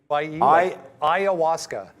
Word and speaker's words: ayahuasca: over to bread and he knows how to pronounce it what was that brendo ayahuasca oh i aw yeah well how do you